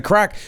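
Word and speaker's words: craic: What's What's the crack? No, it's an Irish thing. What's the crack? Crack spelled like this in Irish.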